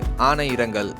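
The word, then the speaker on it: ஆனையிறங்கல்: ஆனையார்களுக்கு சரியான உச்சரிப்பு ஆனை இரங்கல்.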